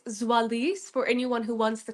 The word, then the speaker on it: Zoalize: So, it's Zoalis for anyone who wants the corre correct pronunciation, but I'm happy to go with.